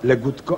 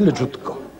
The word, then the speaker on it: Legutko: Lekka chwila zastanowienia i Mirek mówi, ale rzeczywiście, no przecież mówimy Legutko, a nie Leżutko.